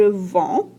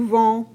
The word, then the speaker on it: vends: Et la prononciation, je vends, tu vends, elle vend. On ne prononce pas les D.